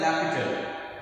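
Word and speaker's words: L'Hôpital: लैपिटल, इसके स्पेलिंग कुछ और होते हैं, इसको प्रोनाउंस किया जाता है लैपिटल।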